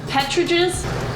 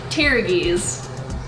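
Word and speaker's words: pteruges: right how the pronounced Petra jizz Petra jizz okay so if P is silent so tear gi's tear you all right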